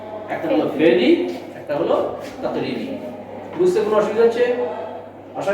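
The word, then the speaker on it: تقريري: তাহলে ফেলি হলো, আর মৌন থাকাটাকে আমরা বলবো তাকরিরি, তা কফ রা ইয়া রা ইয়া, তাকরিরি। বাংলায় উচ্চারণ লেখো তাকরিরি।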